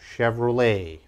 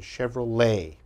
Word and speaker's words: Chevrolet: Chevrolet. Okay, again, Chevrolet. And the last one, very difficult to pronounce.